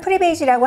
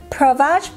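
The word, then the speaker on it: Prevage: 지금 며칠째 계속 비디오를 편집을 하고 있는 그 제품이 이 엘리자베스 아덴의 프리베이지, 한국에서는 프리베이지라고 하고요. 이제 미국식 발음으로는 엘리자베스 아덴 Provage Progressive Renewal Treatment.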